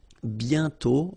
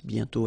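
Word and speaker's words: bientôt: Remember, you put this accent complex but you don't write it. You sorry, you write it but you don't pronounce it. And then the final T is not pronounced BTO.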